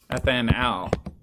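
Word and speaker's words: etanal: Ethanal. You can imagine that gets pretty tricky. You have to pronounce it super clearly with an al suffix, otherwise people think you're talking about the alcohol.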